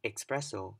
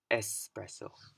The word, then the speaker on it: espresso: would be espresso you don't want to say expressional but espresso so these are two more commonly mispronounced words and I'm sure that if you